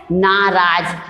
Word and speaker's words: नाराज: सही उच्चारण क्या है, नाराज। तो ना में कौन सी मात्रा आएगी, आम की, क्योंकि हम ना के जब भी बड़े ऊ की मात्राओं का प्रोनाउंसिएशन करते हैं तो जैसे ना जोर से बोलते हैं, ना छोटा आ जाता है।